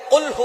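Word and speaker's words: قُلْ: অনেক বেশি কিন্তু আমরা অনেকেই সূরা এখলাস পড়ি কুলহু আল্লাহু আহাদ আল্লাহুস সামাদ ছোট্ট সূরা ফজিলত অনেক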